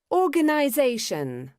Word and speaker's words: organization: Organization. Okay, how many syllables did you hear high in this word, in organize?